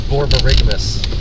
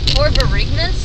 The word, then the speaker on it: borborygmus: Oh, it was borborygmus. Borborygmus? Borborygmus, spelled, I don't know if I can spell it exactly right.